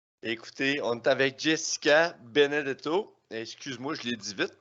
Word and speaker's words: Benedetto: Écoutez, on est avec Jessica Benedetto. Excuse-moi, je l'ai dit vite, hein, ton nom de famille. Si, oh, très bien. C'est italien, je pense. C'est Oui, italien? ça se prononce comme ça s'écrit, là.